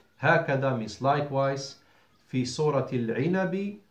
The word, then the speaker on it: هكذا: And likewise, وهكذا, there is ألف between the ها and the كاف, pronounced not written. هكذا means likewise.